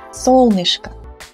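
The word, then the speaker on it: солнышко: solnishka dialla same ending so this o is unstressed of course that is why we pronounce it as sol nishka and if you want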